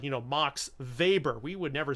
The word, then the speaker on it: Max Weber: with the letter W comes from German where the letter W is pronounced as our letter V so that is a